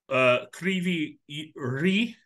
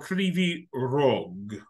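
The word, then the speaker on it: Кривий Ріг: And then the other thing is that the way you pronounce the letter G, these are two differences, right? So, you pronounce the letter G different, like Krivy Rih. Yeah. Or Krivy Rog.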